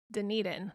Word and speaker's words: Dunedin: And right now we are in Dunedin.